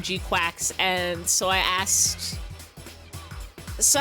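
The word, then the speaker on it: GQuuuuuuX: I know it's Gquax because that's how they said it in the movie. And when I read the little katakana under the movie title, it said kuakusu. So, they're pronouncing it Gquax. They sure aren't spelling it that way.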